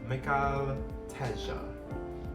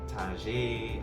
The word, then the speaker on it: Mikhail Teja: I hear Teja, Tajay, I hear Michael Teja, Michael Teja, Mikhail Teja, or it's Mikhail Teja.